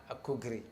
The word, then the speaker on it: Akugri: by enterprise bureau here with me is foster akugri is it correct yeah you got it right